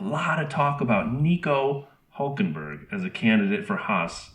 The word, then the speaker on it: Hülkenberg: Hülkenberg. Hülkenberg. Hülkenberg. Hülkenberg.